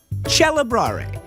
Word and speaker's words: celebrare: When the C is followed by an E, the K became a ch. The word celebrate in Italian, celebrare.